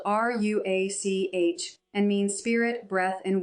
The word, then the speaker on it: Ruach: Through that fractured audio, I learned the name of my guide, pronounced Ruhawk. In Hebrew, it would be spelled R U A C H and means spirit, breath, and wind.